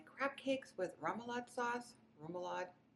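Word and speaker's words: rémoulade: Remoulade.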